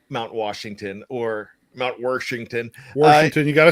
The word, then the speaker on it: Washington: Washington. You got to say it like you're from Pittsburgh. You got to put the R in there.